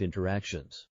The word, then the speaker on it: interactions: this word real life interactions notice the pronunciation here interactions the tea has been completely cut out real life interactions this